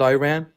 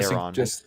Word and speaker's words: Iran: So if you're worried about pronunciations, it's Iran, is not Iran. So I say Iran.